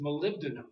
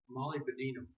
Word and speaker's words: molybdenum: So the proper pronunciation is molybdenum. Okay. Here's her pronunciation: molybdenum.